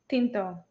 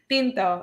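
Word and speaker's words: tinto: call uh Black Coffee Pinto wait the way I said it was like a weird Asian accent Pinto is is how you say just black coffee so I mean you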